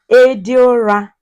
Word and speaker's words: Ediora: So you pronounce it. Say Ediora.